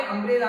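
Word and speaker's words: umbrella: और यहाँ पे अम्ब्रेला में आप अ उच्चारण करते हैं।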